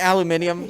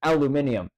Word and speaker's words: aluminium: about it is that the way that it's spelt in Europe and everything else is said as aluminium, but the way it's spelt in America is literally how you would say as aluminum.